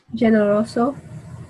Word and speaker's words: generoso: G and J is when you hear the sound H.